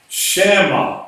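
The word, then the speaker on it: שַׁמָּה: So in this case, you really should pronounce that and transliterate it as shama, SHA, sham, because you will add an A, not an A, you will add an M or an extra mem to this word. This word is actually transliterated in English as SHAMMAH, sham.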